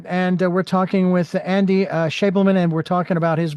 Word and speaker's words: Schabelman: Andres, and it is again pronounced Schabelman, Schabelman. Yes, I Schabelman.